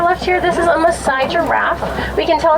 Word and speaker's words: Maasai: And tie-dye kind of rhymes with Maasai, so it's an easy way to remember how to tell them apart from different types of giraffe.